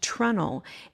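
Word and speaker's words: treenail: This is something called it's spelt tree nail, but it's pronounced trunnel.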